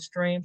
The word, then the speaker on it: STRM: the founder CEO of stream consultant is Str strm I pronounce it stream because we are we focus on streamlining data processes as well as any